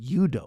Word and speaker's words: judo: you train in Korea, they don't call it judo, they call it yudo, which is the Korean pronunciation judo, too, but they're like, nah, it's different.